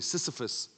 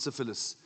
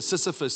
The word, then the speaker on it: Sisyphus: a fellow called, listen, pronounce it properly, Sisyphus, not syphilis. Kitsi says the oak sif, but it's near Sisyphus.